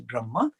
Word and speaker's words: Brahma: The pronunciation is Atma, not Atman, but made in English we make it Atman and Brahman, but it's Atma, Brahma.